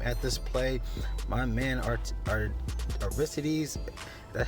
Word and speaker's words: Aristides: My man, Aristides, that's how you pronounce it.